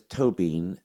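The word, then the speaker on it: Tóibín: 'LM' gets a full syllable so it's Cullum, and the second name is 'Toe-bean', as in 'has been', as in 'old bean', as in your toe and then a bean."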